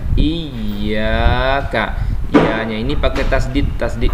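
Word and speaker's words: إِيَّاكَ: Biasanya banyak anak-anak yang salah membacanya surah Al-Fatihah ini di ayat yang kelima biasanya. Iyyaka. Nah, ini dipanjangin iyanya, bacanya agak dipanjangkan, dilamakan bacanya. Iyyaka.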